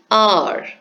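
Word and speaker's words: hour: H oh you are here also the H is silent so we have the vowel sound of this word as our the next example is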